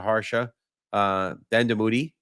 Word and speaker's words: Harsha Dandamudi: If you have any questions, today we're talking to Harsha Dandamudi.